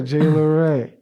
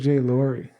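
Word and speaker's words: J. LaRay: Oh yeah, Jay LaRay. That's how you say his name. I thought it was Jay Laurie. I say Jay LaRay. It could be both.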